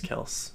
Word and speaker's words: Kelce: It's not Kelsey, it's Kels.